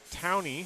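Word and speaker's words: Towne: E is silent.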